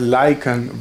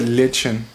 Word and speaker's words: lichen: Turns out I pronounced the word lichen wrong my entire life. I used to call it lichen.